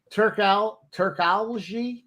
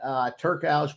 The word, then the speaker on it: Turkalj: So 1 unit on the over 1.5 and a half unit on the Turkalj by decision. Now you know. I think the J is actually pronounced like an I was told.